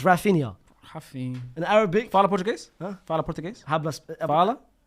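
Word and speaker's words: Raphinha: Raffin. Say his name properly. Say his name. Say his name properly. Rafinia.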